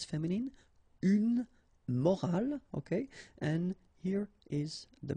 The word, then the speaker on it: morale: the same way, but in that case you get this at the end, which is silent, so you don't pronounce it. So clearly it is the same pronunciation for the two words, but then in that